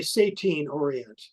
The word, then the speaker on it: Satine Orient: say her name right Satine Orient uh well I I I would say sattine Orient sat is that's not her real name and she's